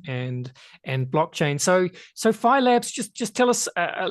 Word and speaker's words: Phi Labs: of today's show let's start then uh with phylabs that's how you say it isn't it phylabs